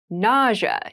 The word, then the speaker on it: nausea: Nausea is a very interesting word with an interesting spelling. Nausea is the pronunciation.